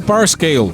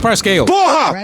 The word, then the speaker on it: Parscale: E eu fui pesquisar a da pronúncia do nome do cara e vi uma entrevista dele mesmo falando Brad Parscale.